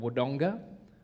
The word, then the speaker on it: Wodonga: put a lot of emphasis on the second syllable. So there's a place back home called Wodonga, but if you said it like an Aboriginal, it'd be Waranga.